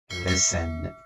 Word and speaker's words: listen: در این کلمه حرف تی خاموشه، تلفظ نمیشه. listen.